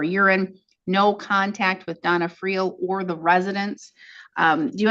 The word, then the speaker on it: Friel: Is it Friel or Free? How do you say it? Friel, Friel. Okay, I thought so.